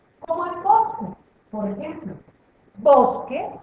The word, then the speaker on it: bosque: el bosque por ejemplo bosque se escribe con q escribimos la u pero no la pronunciamos vamos a ver otra